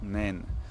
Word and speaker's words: naine: mongoose, which would be in French or mangouste naine.